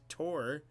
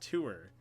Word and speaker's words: tour: tore my whole life I always say it tore but everyone says tour I don't remember where